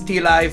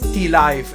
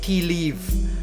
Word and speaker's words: Tealive: i shot this that you pronounce tea life as tea life and not tea leaf i always thought it